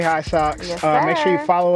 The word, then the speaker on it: HISOX: And I'm at Home of the High Socks, and High Socks is spelled HISOX.